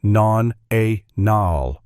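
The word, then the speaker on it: nonenal: A chemical compound called non-eninal, pronounced nonal.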